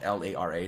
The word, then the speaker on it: Lara: think I say it l it's her spelled l-a-r-a so I say Larry it's La it's pronounced Lara but the actress Camila Ludington is